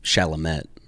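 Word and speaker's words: Chalamet: Uh, I kind of have a Sorry, I got to correct you because you just corrected me. It's Shalamett.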